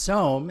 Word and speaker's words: Sohm: This has kind of been a problem most of my life where my name is pronounced Sohm. It's S-O-H-M.